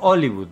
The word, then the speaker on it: Hollywood: Palermo Hollywood, porque allá no se pronuncia la H.